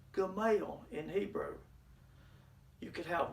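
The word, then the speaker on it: גמל: three continents equivalent to our cmail and it's pronounced gamal in hebrew you could have one game or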